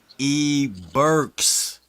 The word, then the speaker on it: E-Burks: Say his name right. It's E-Burks.